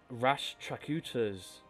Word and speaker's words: Rashtrakutas: We have the Rashtrakutas, that's how you say it, there we go, occupying the Sankhayavats.